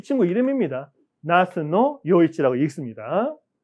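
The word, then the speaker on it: 那須与一: 나스노 요이치라고 읽습니다.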